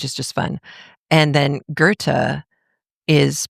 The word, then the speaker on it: Goethe: who pull you aside and go, "Actually, it's Goethe. I know you know the word. I'm just letting you know how it's pronounced."